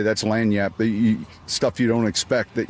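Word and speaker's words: lagniappe: They know they know how it's pronounced. They know what it they know what it means, right? It's lanyap.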